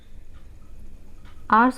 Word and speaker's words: hours: आवर्स को आप दो तरीके से ड्रॉ कर सकते हो, एक ये हो गया, एंड आवर्स में हमारा HOURS में हमारा H साइलेंट होता है, तो आप इस तरीके